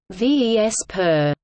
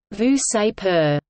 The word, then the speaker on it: VSEPR: Gillespie and Ronald Nyholm the acronym VSEPR is pronounced either ves per or vu say per the premise of VSEPR